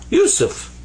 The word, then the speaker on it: Yusuf: here like this without dots actually so that's pronounced like a s and this is phi this comes up to be usu yusuf and that's my name that's how you write